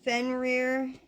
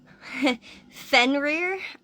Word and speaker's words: Fenrir: natural order of Life Fen reer I I say Fen reer um that's the pronunciation that I've gone with but he's he also